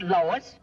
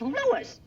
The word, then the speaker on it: Louis: Me name is Louis, not Lois. Jews. Everybody interpolates me name wrong. It's Louis. L O U I S.